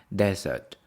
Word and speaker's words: desert: pleas you know desert we pronounce day desert stress is on the first one have you ever been